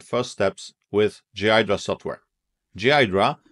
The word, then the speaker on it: Ghidra: Ghidra, pronounced Ghidra, though I admit I'm so used to my own way of saying it that I struggle to change.